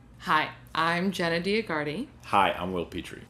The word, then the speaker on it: Dioguardi: Hi, I'm Jenna Dioguardi. Hi, I'm Will Petre. You can also say my name, Dioguardi.